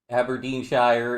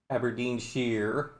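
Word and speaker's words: Aberdeenshire: of text to do aberin Shire is pronounced Aberdine Aberdine Shear yeah I mean those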